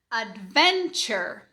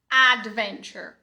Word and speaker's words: adventure: Adventure. Adventure. Reparou que esse A é fraquinho? Esse A aqui não é A. Adventure.